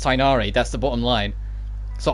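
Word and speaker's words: Tighnari: what we're told to do we're told to pronounce it tinari and make it consistent across all the roles so it's uniformed so it's tinari but people were really going at them it's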